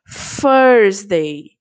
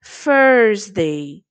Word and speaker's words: Thursday: O TH ele tem um som mais específico, ó. Thursday, Thursday. É como se eu tivesse um F na frente da palavra.